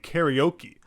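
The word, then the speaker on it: カラオケ: Karate, karaoke, unlike in English where it's karate and karaoke. When you see that a in Japanese, you know it's always pronounced in that same way.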